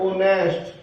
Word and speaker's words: honest: HONEST, इसमें H silent रहेगा। ओनेस्ट।